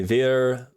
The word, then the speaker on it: wir: Wir, vi, was. Yes. Okay. Like, yeah, that's all that too. I do know that the W makes a V sound, so it's like wir,